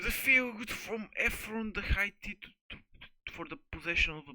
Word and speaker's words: Hittite: How do you pronounce that shit, bro? Hittite. Hittite. Like Hittite.